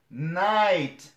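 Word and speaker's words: night: نو په دغه ټولو کې مرګلو دلته چې کله د آی نه شاته جی ایچ راغلی دا نه تلفظ کیږي.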